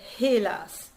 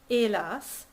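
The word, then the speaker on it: hélas: yes the h it's you don't say helas that's a silent h but it's a glottal e patri elas je ne la vere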